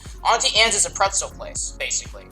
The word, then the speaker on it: Auntie Anne's: uh or auntie or auntie ants sorry i think i've been saying it wrong auntie anne's is a pretzel place